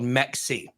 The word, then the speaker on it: Mexi: pronounce it and then remember I'm sexy so just remember sexy mexy we'll call it Mexi so there's a pretty